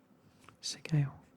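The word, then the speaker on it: Sgaeyl: I think it is Sargale. Definitely is Sigale. Sigale. That's how you pronounce it.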